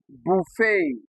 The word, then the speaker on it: buffet: So although they end with e t they do not produce the short e sound like you see here. All right they possess a deep tongue instead. Okay. Because they are of French origin.